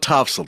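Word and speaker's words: Topsail: So, top They call it Topsel, Topsel Road.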